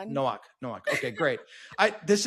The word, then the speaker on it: Nowak: Today I am joined by Jocelyn Nowak. Actually, I didn't ask you how to pronounce your last name. How do I pronounce your last name? Nowak, like no walk run. Nowak.